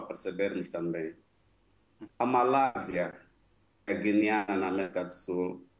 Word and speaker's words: Guiana: Como é que se pronuncia o nome em português? Que está em conflito com a Venezuela. É a Guiana.